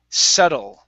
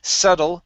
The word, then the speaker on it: subtle: Okay, subtle. Okay, the B in this word is silent. Okay, and we say subtle, subtlety, subtlety.